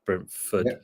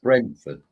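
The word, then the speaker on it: Brentford: we got brenford yeah I've said it right for a change brenford brenford correct Thomas Frank very unpredictable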